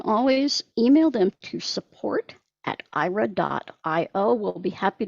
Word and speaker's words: Aira: and again excuse me ira is spelled a i r a um you can